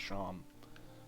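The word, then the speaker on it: Seam: No, I need to go talk to Seem, pronounced Sham.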